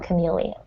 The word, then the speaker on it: chameleon: It's pronounced chameleon. chameleon.